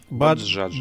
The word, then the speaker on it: Bajaj: Вот как правильно произносится название? Баджаджа.